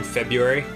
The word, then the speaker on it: February: Uh, what um do you know anyone who pronounces the silent R in February? Like February. From February. Yeah. When in the dictionary it really is just February.